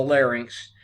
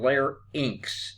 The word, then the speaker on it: larynx: the pharynx and the larynx and remember this pronunciation is fair inks and layer inks it rhymes with links not pharynx and larynx as some people would like to say why nas trachea